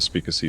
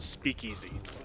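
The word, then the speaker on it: Speakeasy: made a point to go to the spacy for a laser pistol it's pronounced Speak Easy I only intend to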